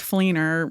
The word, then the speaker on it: Fleenor: his screen name was fleiner whatever yeah and I'm like what's a fleiner and he said that was my that's my last name and I was like that rhymes with Keener very that's great crazy